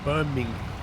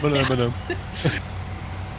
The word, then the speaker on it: Birmingham: Yeah, Americans don't say Birmingham, did they? They say Birmingham. Hang on, how do they say it? Birmingham. Birmingham. They say ham. They overpronounce the ham quite a bit.